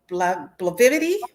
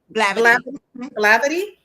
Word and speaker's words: Blavity: You guys are featured by outlets like BET, Rolling Stone, and Blivid. Bllidi. I'm not pronounced that. How do How do you pronounce that? Blavity.